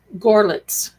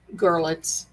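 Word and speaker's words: Görlitz: I believe it's him because he actually told me about my family from Gorlitz. I always pronounce it wrong. Pardon me. Gorlitz. And I never knew that until my grandmother kind of told me.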